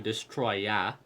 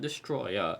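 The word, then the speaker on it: Destoroyah: We could maybe do Gigan, or we can do Destroya, not Destroyer, Destroya. That's how it's spelled.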